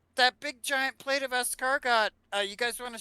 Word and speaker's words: escargot: I got that that big giant plate of escargot uh you guys want to share it with